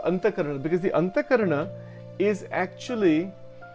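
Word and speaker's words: Antahkarana: So in Hindu philosophy, the Anthakarna, it is pronounced Anthakarn, actually that's the pronunciation.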